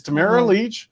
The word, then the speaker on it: Tamara Lich: name so it never occurred to me and pronouncing your last name shouldn't be that complicated but it it gets some people it's Tamara Leach yes so just see we get that out